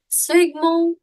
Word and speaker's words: sphygmomanometer: Now the pronunciation for it, even I need to learn the pronunciation of it. It is sphygmomanometer.